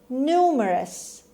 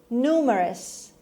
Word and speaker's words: numerous: Numerous. Numerous. Numerous. خب در تلفظ این کلمه شاید بعضیاتون شنیده باشید، بعضیها کلاس زبان میرن معمولا، بعضیها خودشون شاید خوندن، جایی شنیدن، کسی گفته.